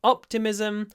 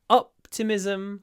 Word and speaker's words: optimism: room for optimism now the stress is on the first syllable so optimism optimistic optimism optimistic and we got